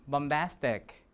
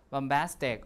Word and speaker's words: bombastic: And then in the last one, bombastic. Bombastic or bombastic, doesn't matter how you pronounce it, schwa or I is fine, doesn't matter, because it's not stressed.